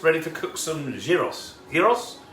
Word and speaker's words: gyros: to cook some giros heroes heroes it's not gyros i was caught i